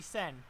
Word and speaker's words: Seine: How to pronounce. It's bloody Sen, okay?